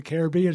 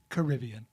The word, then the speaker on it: Caribbean: once how much I love Pirates of the Caribbean. She goes, "It's Caribbean." Right. Yeah. Right. Thanks, Grandma, mate. Right. I thought it was Caribbean until the Disney movie came out.